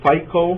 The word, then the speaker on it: FICO: of as different sap modules right um so FICO as it's pronounced fic is the finance and the controlling